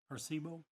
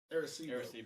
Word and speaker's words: Arecibo: Here's what SETI Institute said about the, how do you pronounce it? Arecibo? Arecibo.